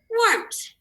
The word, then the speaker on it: warmth: Warmth. Let's spell it. W-A-R-M-T-H. And what is this AR saying here? Or, because remember, it is right after that W sound.